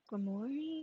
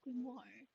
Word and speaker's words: grimoire: Yes, it's a book of magic known as a Oh, I'm pronouncing it wrong. It's pronounced grimoire.